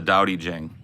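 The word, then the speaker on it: 道德經: And Qing is not Qing, it's Jing.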